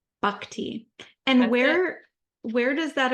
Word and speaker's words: Bhakti: bakti bu okay like think of a buck like the deer okay okay B Bak te and where where does